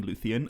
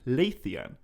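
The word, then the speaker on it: Leithian: very understandably be wondering why i'm pronouncing luthien so weirdly when i say the lay of lathian and the answer to that is that i'm not saying lutheran i am saying laethian and laythean is a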